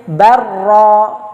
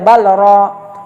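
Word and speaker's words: بل رفعه: Barra, tidak boleh balra, lam sukun ketemu ra.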